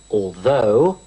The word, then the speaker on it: although: more than other cookers although light notice the pronunciation of allthough the stress is on the second syllable although instead of although